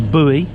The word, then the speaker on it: buoy: pull the line from the boy or buoy as you Americans say so we have two